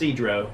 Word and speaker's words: Sedro: also find out that it's pronounced sedro not federal pedro movers we butchered names